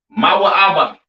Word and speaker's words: Moab: chapter next we have Moab all right Moab pronounced ma ABA right the children of